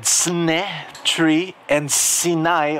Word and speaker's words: Sinai: said sne tree and sinai or sinai rhymes with the hebrew word for test i want you to